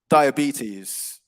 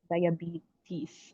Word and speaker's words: diabetes: so we would say diabetes diabetes okay okay yeah yeah so it's a longer e sound on the penultimate syllable the second to last syllable yeah diabetes but yeah no worries